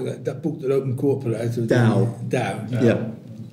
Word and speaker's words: Tao: Tao. Yeah. T pronounced D.